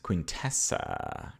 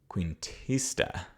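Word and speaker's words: Cuentista: to books the last quintessa qu no sorry that's not how you pronounce that the last quentia that's better this is a middle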